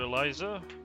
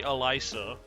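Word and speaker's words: Elise: In French, if you have an S between two vowels, it turns into a Z sound. So, uh, force of habit. I know it's meant to be Elisa, but I'm [ __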